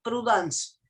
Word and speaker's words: prudence: Se escribe prudence, pero se pronuncia prudence, porque Prudence.